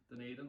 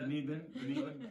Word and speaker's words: Dunedin: And do you know how do you pronounce it? Dunedin. Yeah. Dunedin.